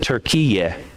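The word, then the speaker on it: Türkiye: And they prefer that we don't call their country Turkey, that we pronounce it Turkiye.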